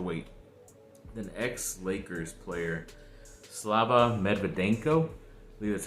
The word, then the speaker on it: Slava Medvedenko: just have to wait then ex lakers player slava medvedenko that's how you say his name he was